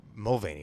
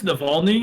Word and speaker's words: Navalny: led a very more Mulvaney, right? Wait, am I saying it right? What is it? No, Navalny. I think it's Navalny.